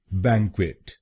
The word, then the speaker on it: banquet: तो बनेगा बैंक्वेट, बैंक्वेट, bang quit, bang quit, बैंक्वेट, बैंक्वेट। और ये ध्यान में रखिए कि हमको पहले शब्दांश पर यानी BANQ पर जोर डालना है।